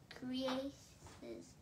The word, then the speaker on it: creases: She's sewed deep into the creases. Spell it. C-R-E-A-S-E-S. Okay, the E-A makes the E sound. E, creases.